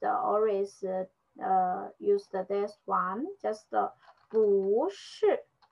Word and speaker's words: 不是: So this one, we just say 不是. Mm-hmm. So we just choose this one. But we notice this one, the pronunciation is not 不, just 不.